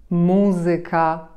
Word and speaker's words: muzyka: będą ciekawsze w odbiorze a mianowicie niektóre słowa przede wszystkim zakończone na ik ik te słowa które są obcego pochodzenia takie jak matematyka muzyka gramatyka akcentujemy właśnie nad trzecią sylabę od końca powiecie to obce słowa